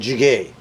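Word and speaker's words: 찌개: sundubu Jiggy Jiggy actually I've heard it pronounced two ways Jiggy and jigay so we'll put in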